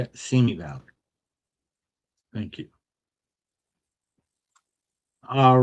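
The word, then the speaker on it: Simi Valley: Seami Valley.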